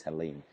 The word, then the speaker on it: Helene: Now it's Helene, Helene. Did I pronounce that correct?